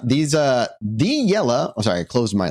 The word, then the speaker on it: Iele: You have to bring your shoulders up, get out your chin, and go Iele. I'm going to link it. It's IELE. So it looks very confusing unless you know what you're actually looking at.